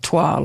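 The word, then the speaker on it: toile: to make all the toils for the for the jacket and everything am I saying that word right TW yeah so it's spelled like toil but um TW is how TW thank you for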